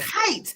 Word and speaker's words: Hite: Oh, it's Hite. So see, Yes. I was like, because I knew how to say Estevez, but I was like, is it Hite? Is it Hite?